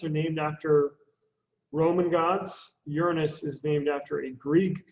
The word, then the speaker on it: Uranus: Uranus, or if you want to pronounce it correctly, Uranus.